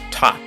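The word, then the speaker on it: ⊤: Just for kicks, let's represent this I don't know value with this T, pronounced top.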